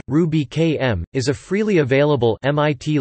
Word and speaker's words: Rubychem: Ruby Kemp pronounced Ruby km is a freely available